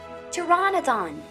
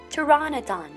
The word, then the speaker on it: pteranodon: you know the name pteranodon toronto where the letter p is not pronounced toronto donned repeat with me pteranodon next dinosaur was built